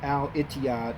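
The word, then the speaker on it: Al Etihad: right here each other is actually pronounced al etiyad in the arabic language that's what that means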